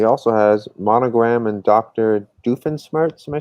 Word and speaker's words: Doofenshmirtz: awesome and he also has monogram and dr doofenshmirtz am i saying it right yep some custom